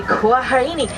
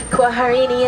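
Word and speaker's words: kwaheri: here harambe we don't say goodbye we say quarini quarini is SW for goodbye more fun to say though so quarini everybody all right watch your hands arms feet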